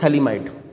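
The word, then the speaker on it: phthalimide: जब स्पेलिंग देखेंगे तो PH इज साइलेंट, तो इसमें PH जो होता है वो साइलेंट होता है, दिस इज थैलीमाइड।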